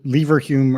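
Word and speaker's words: Leverhulme: so and you're the Lal hum professor of philosophy uh lever Hume early career fellow they have funny pronunciations in the UK so fair enough or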